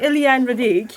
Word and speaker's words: Éliane Radigue: Éliane Radigue. Well, I have to say, my French pronunciation is not brilliant at all.